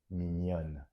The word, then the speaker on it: mignonne: So here you need to double the N and add an extra E, mignon, and the pronunciation is going to be affected. Mignonne, mignon, mignonne.